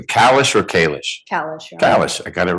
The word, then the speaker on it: Kallish: All right, I want to make sure I'm pronouncing your name correctly. Kalish or Kalish? Kalish, Your Kalish, I got it right.